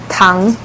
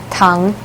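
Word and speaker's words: 糖: Tang. Tang? Tang. Okay. It's like very easy to pronounce.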